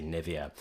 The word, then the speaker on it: Nivea: English native speakers usually say Nivea, Nivea. Yes, she's right this time. No dispute of Nivea. I would absolutely say Nivea.